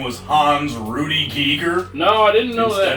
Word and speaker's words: Giger: To pronounce everybody's last name correctly. Did you know he was not H.R. Geiger? It's not Geiger, no. It's Giger. It's H.R. Giger.